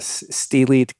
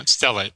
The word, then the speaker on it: stellate: procedure it was a a steely ganglion am i pronouncing that right yeah yeah stellate stellate stella ganglion could you describe that